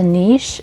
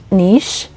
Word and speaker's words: niche: all what is a niche for textile design first of all let's clear out the pronunciation of this word I like saying it Nish it's a French word and also in Russian